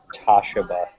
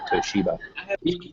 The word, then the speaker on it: Toshiba: I used to pronounce it Toshiba until I was probably about 22. Is that for real? Don't answer that. Gained a better world perspective, realized it was probably Toshiba.